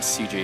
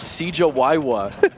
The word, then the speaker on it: Cjya: and you guys know how my name is pronounced right CJ yeah yeah yeah lewick called me CJ he said oh yeah that Mario dude Cawa he thought you were